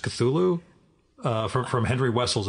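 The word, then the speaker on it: Cthulhu: I've have I've I've heard how Lovecraft actually pronounced cthulu uh from from Henry Wessel apparently it's Kulu really everybody's had the same reaction and he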